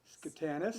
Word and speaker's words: Schotanus: Well, good evening and welcome to downtown Whitesville, about the valley, and Schotanus.